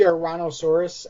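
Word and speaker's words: Ouranosaurus: It's the Ouransaurus, and I'm not so hot on this particular figure.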